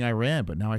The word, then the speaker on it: Iran: Saman from Iran. He's the guy that got me not saying Iran. I used to be saying Iran, but now I say Iran.